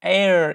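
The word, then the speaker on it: heir: we shouldn't do that broadly speaking we don't pronounce the H invert imported from French like our owner air exhibition and vehicle they came from French language and age in these words are not pronounced our honor air exhibition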